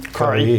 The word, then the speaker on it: Karhi: Communications Minister of the government, Shlomo Karhi, am I pronouncing that right? Yeah. Or Karhi? Karhi, yeah.